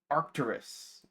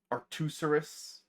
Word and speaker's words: Arcturus: Routilicus nearby is arcturus. I'm pretty sure I've mispronounced that one as aruserus before.